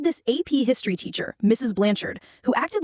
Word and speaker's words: Blanchard: It had to be pronounced blanchard with emphasis on the second syllable. God forbid you said blanchard.